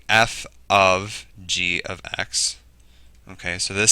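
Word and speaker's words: f∘g: f of G and that's how you say it's not fog it's f of G and a lot of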